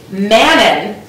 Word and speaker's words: Manon: But actually, Manon was created to make other people feel comfortable. Right. Mm-hmm. Right. Can you believe that? Yeah. Man, that's exactly what everyone needs. Rhymes with Shannon.